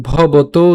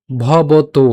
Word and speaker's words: ভবতো: উচ্চারণটা হচ্ছে অর্জুন উবাচ, এরপর অপরং, অপরং ভবতো, ভবতো এখানে উকার আছে, এজন্য আমরা ভবত উচ্চারণ করিনি, আমরা উচ্চারণ করেছি কেমন, ভবতো।